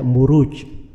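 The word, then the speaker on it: مروج: Nah, itu kalau di bahasa Arab tidak dibaca Mirwaj, tapi dibaca Muruj.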